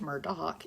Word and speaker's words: Murdaugh: about the Murdoch family Murdoch family also pronounced Murdoch even though it's spelled Murda Murda and Seton is going